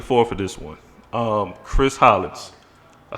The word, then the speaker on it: Hollins: Chris Hollins. I said your last name, right? You said it right, bro. Hollins.